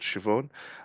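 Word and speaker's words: Siobhan: I and this girl was called shioon and she said you spell it s i o b h a n and it and it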